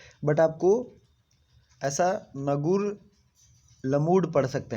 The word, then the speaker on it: Ngerulmud: इसको पढ़ा, पता नहीं क्या पढ़ेंगे, प्रोनाउंसिएशन थोड़ा सा इसका डिफ़िकल्ट है, बट आपको ऐसा नगुर लमूड पढ़ सकते हैं, नगुर लमूड।